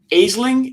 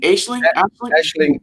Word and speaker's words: Aisling: I know because it's it's Irish and I'm not I can't but a sling Aisling can be Ashley B is a hot